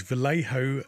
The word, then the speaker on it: Vallejo: Vallejo game color game color metallics sorry these Vallejo color metallics there we go said it right